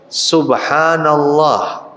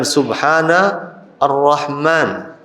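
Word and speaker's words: سبحان الله: termasuk diantaranya bacaan tasbih tasbih itu bacanya Bagaimana subhanallah subhanallah subhanallah bukan Subhana ar-rahman tapi Subhanallah Hai diantaranya juga adalah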